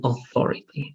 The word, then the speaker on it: authority: Authority right and also this pronunciation is going to be more like o and the th like so it's going to be Authority let's try to repeat